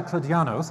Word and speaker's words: Kladianos: And Costa Kladianos, I pronounced it correctly.